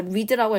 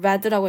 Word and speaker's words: read: 여기서 read라고 읽으면 안 되겠네요. read라고 읽겠습니다. 과거 시제니까 opt for and read history and geography widely.